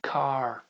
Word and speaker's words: car: très courant la voiture cette fois-ci le R est en à la fin du mot alors qu'est-ce que ça ça va nous donner car car car alors je reprends sur mon idée d'accent américain et d'accent anglais une des grosses différences entre l'accent américain et l'accent britannique c'est justement cette prononciation du son r les